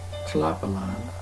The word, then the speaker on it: Tlapallan: island and the name of that island was Chilapalan. Don't know if I'm pronouncing it right.